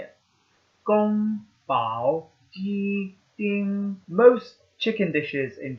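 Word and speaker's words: 宫保: really important to learn how to say it Gong Bao in most chicken dishes in China use all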